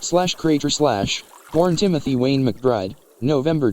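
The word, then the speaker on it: Krajcir: Timothy Wayne Cratch, pronounced /Crater/, born Timothy Wayne McBride,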